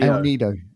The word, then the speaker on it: El Nido: El Nido.